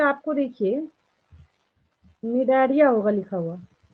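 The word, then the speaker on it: Cnidaria: Second position पे आपको देखिए निडारिया होगा लिखा हुआ, यहाँ पे सी साइलेंट होता है, ठीक है। निडारिया और सिलेंट्राटा, देन टीनोफोरा, देन प्लेटीहेलमिंथस।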